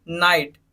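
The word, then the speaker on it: knight: का मतलब क्या होता है चाकू थर्ड देखिए नाइट नाइटें हो गया एन से पहले का तो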